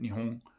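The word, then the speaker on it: 日本: and in some cases it can be pronounced i guess as a uvular nasal like nihon nihon something like that nihong for the word japan japan in japanese itself um it shouldn't be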